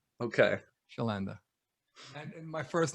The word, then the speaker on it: Chlanda: because i didn't want to mess it up schllanda okay shalanda and my first name is spelled funny too so you know it's a